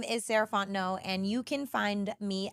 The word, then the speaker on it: Sarah Fontenot: again my name is saranto and you can find me at M saraon no so Ms s a r a h fo o n t n o t the t is silent um that's me on